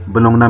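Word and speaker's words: Bologna: Top class university है, university of बोलोनिया। कुछ लोग इसे यूनिवर्सिटी ऑफ बोलोंगना भी प्रोनाउंस करते हैं।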